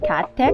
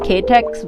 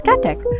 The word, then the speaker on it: KaTeX: guys understand what this is so this is pronounced cat tech or as my that at least that's what my computer science batchmates tell me that's how it's pronounced i always said as ktex but apparently it's catech so uh yeah this is like the first